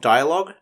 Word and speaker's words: dialogue: by l-o-g-u-e for log be careful of the u and the e at the end of the word because they aren't pronounced d-i-a-l-o-g-u-e spells dialogue word number